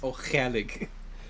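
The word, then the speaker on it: Ó Ceallaigh: The actual Irish pronunciation of that is O'Chalig. So it's a lot of back of the throat action in Irish, which I'm not really a fan of.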